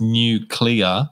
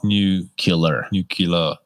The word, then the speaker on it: nuclear: said you've you've got It's pronounced new clear yeah not nule nucle yeah nuclear right can we